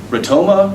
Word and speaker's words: Rotoma: And the beautiful thing, Rotoma rhymes with Sonoma.